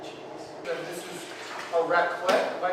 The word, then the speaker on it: raclette: And this is a raclette, am I pronouncing it correctly?